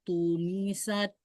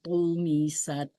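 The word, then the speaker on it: طُمِسَتْ: Faizan nujumu tumisat. Ya, sebentar. Ini bacanya masih pakai ta. Tu, bukan. Tu. Lagi. Tu. Faizan nujumu tumisat. Ya, bagus. Jadi lebih naikin pangkal lidah tengah-tengahnya naikin juga.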